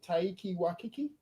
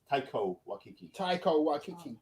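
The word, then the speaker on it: Taika Waititi: played by you pronounce his name Taiki Waititi. Yes, Taiko Waititi.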